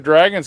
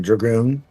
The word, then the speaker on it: Dragoon: So Panzer Dragon's coming back. I mean, Dragoon. Yeah. Well, okay. we could touch on these slight pronunciations because at the end of the day, you're hating on my country accent. And Isn't there 2 O's in the title?